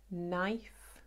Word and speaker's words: knife: Например, KN, только N, N произносится, а никогда КН. Knife.